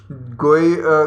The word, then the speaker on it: GUI: systems use a graphical user interface or GUI pronounced as GUI lets you use your mouse to learn to